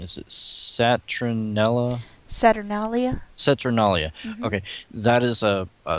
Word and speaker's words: Saturnalia: You'll have to help me with this pronunciation. Is it Saturnalia? Saturnalia? Saturnalia.